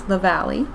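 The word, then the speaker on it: Lavallee: Jethro by Tannis lavali I said her name wrong last time it's lavali um it is not done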